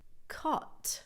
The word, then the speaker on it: caught: Caught. Right? Again, really simple pronunciation. It's not c. Just ignore those extra letters because English likes to do that.